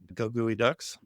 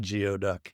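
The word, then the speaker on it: Geoducks: Goey Ducks. And I I For those of you non Washington people, yes, that is the way you pronounce it. It's not Geoduck.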